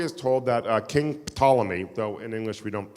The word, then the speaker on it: Ptolemy: told that uh King Ptolemy though in English we don't pronounce emphalomy because in English we don't like Words that start we call them Ptolemy the p is silent Aaron pankin this is